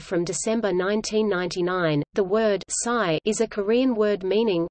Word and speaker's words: Cy: Cy corresponds to a more accurate pronunciation of a Korean word for between.